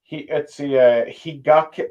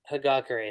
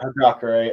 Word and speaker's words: Hagakure: Higake. It's Higake. Did I say that right? Or Hagakure, I think is how you say yeah, Hagakure and Shinso for this final act or saga, if you will.